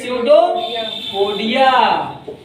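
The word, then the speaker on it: pseudopodia: तो इसमें जो है नकली पैर पाया जाता है जिसको हम क्या बोलते हैं, स्यूडोपोडिया, बस समझाइए। पी साइलेंट रहता है, PSEUDO PODIA हो गया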